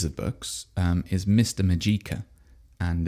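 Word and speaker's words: Mageika: Majika. And it's uh Well, actually, I should spell that.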